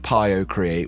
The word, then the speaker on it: PioCreat: So, the quick statement up front is that the founder of Pio Create, which I agree with you is a silly name, but this is how I was told to pronounce it.